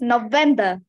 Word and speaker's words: November: this again November November how many syllables are there can do snapping or clapping no them B there three syllables oh perfect now which syllable is the stress syllable sir I think is B there's very stress in November you think or you